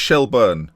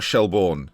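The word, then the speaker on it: Shelbourne: be a while yet apparently it's shell bur not shellborne so if I do it if I accidentally say say shellborne that's because of how it's written in the language I speak shellburn though is apparently more accurate just letting you know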